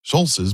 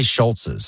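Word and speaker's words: Scholz: only got um it only got um Schultz's Schulz's by 40 years. It's funny. It's It's actually, you know, it's it cuz I the pronunciation. We all say Schultz's.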